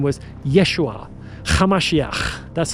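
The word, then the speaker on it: ישוע: His real name was Yeshua Kamashiach. That's how you pronounce it in Aramaic.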